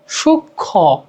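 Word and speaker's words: সূক্ষ্ম: সঙ্গে সংযুক্ত ম ফল কোন উচ্চারণ হয় না তবে সামান্য কি আনুনাসিক হয় যেমন সুক্ষ সুক্ষ ঠিক আছে এটাকে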